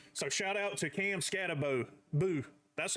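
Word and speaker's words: Skattebo: So shout out to Cam Scatabo. Boo. That's how the people pronounce it when I was watching his highlights.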